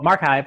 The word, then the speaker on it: MarXiv: here we go so mark I've as we keep saying it rhymes with archive and it's the research